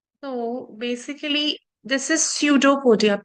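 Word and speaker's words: pseudopodia: So basically this is pseudo podia. P is silent.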